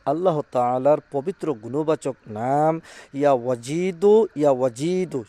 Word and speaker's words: ইয়া ওয়াজিদু: তাআলার পবিত্র গুণবাচক নাম ইয়া ওয়াজিদু। সঠিকভাবে উচ্চারণ করবেন ইয়া ওয়াজিদু।